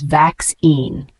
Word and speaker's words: vaccine: The pronunciation is vax-ine.